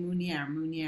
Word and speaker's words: Meunier: for straight from France I kept saying Pinot Munir and every single guy kept saying Munir mooney every year with a French accent and and so come